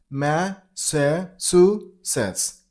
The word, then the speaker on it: Massachusetts: And while you pronounce the state name, you gotta stress on the third syllable. Massachusetts. Massachusetts. Massachusetts. Massachusetts. The last is blended to a little bit D sound, so Massachusetts.